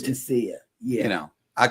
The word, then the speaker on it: Fantasia: It's not Fantasia or Fantia. Fantia. They pronounced it fantasia, but it's Fantia.